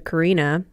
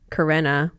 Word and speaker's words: Karina: My girlfriend, shout out to Karina, pronounced Karenna, sorry, shout out to Karenna, turned me onto a podcast called Why We Eat What We Eat.